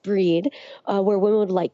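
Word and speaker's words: Brigid: Um, it's also traditionally been the celebration of the goddish Bridg, pronounced breed, uh, where women would light candles and ask for their blessings for, um, fertility and purification.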